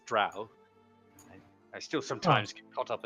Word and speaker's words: drow: a bit just think troll sure oh sorry that is an an archaic brainless pronunciation of it it is drow I still sometimes caught